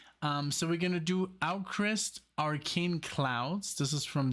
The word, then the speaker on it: AVKRVST: I figured it out it's called owlcrist and I'm still on the fence because I know how hard it was from me to pronounce the V because in Germany it's pronounced foul um so and there's